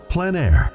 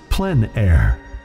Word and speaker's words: plein air: In the Plein Air Podcast, we cover the world of outdoor painting, called Plein Air. The French coined the term, which means open air or outdoors. The French pronounce it Plein Air.